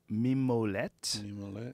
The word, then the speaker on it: Mimolette: Mimolette.